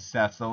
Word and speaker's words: Cecil: have you are dismissed Cecil or cesil I know the proper pronunciation is cesil and I'm going to try to say it as often as I can but Cecil is going to slip out a lot it doesn't even